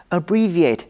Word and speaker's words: abbreviate: 要特别提醒，动词 abbreviate 的重音在第二音节，而名词 abbreviation 的重音在第四音节。